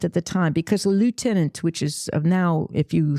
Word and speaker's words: lieutenant: So a little point of French pronunciation here. It's lieutenant. Lieutenant. In French, it's lieutenant, sous-lieutenant. But in English, you spell it the same, but you say it wrong.